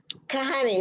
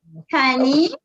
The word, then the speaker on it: Kani: No, I want to make sure I pronounce your name. Kahani, right? I'm going to unmute you. Okay, I just came on. Kani, yes. Kani, is that correct?